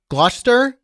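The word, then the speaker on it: Gloucestershire: as well from wait me get it right Glouster it's spelled GL gloss okay it's spelled gloss sester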